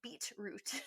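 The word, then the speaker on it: Beatroot: he says it because he pronounces the T in beat beat root is that a really enunciation and it's b-e-a-t not b-e-e-t root it has nothing to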